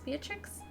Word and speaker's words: Beatrix: was trying to see how I pronounce it Beatrix Beatrix theatrics Beatrix Vega means Beauty